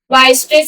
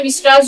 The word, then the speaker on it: Weierstrass: वस्ट्रेस या विराजस जो भी हम कहें प्रोनाउंसिएशन थोड़ा सबका अलग-अलग होता है। वाय स्ट्रेस कहते हैं इसको बहुत से डिस्ट्रस भी कहते हैं।